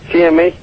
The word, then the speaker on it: Seimi: Seimi, how do you pronounce that? Seimi.